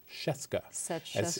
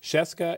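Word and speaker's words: Scieszka: table um by John chesca as he says rhymes with Fresca chesca is a person of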